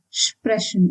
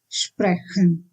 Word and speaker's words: Sprechen: Otherwise, for all other cases, ch is pronounced as sh. Like in Sprechen, we have e before ch here, and that's why it is Sprechen and not Sprechen.